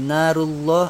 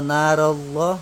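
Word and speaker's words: نارُ اللهِ: Tapi kalau misalkan kawan-kawan baca surah Al-Quran terus ketemu huruf fathah atau dhamma sebelum lo, maka tetap wajib ditebalkan.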